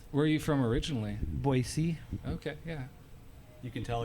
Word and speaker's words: Boise: don't think about it I just say it right there's no Z in there boy this how I